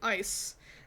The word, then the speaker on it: Aice: collection of YouTubers it's Ace Academy that's or I think it's actually ice that's spelled like this a-i-c-e ice was it Academy or